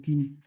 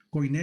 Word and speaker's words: Koiné: En ese griego Kini. Koiné le dicen muchos, pero realmente la pronunciación es Kini o Kini.